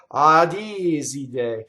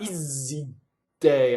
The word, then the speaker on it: Iside: So if you stop phonation, a D, that's a double D. That doesn't belong there. See, and that gives you away as a non-Italian. Iside, Iside, right? So all of these, not Iside, I can make them all double, right? That's all wrong. So any of those that creep in would be incorrect.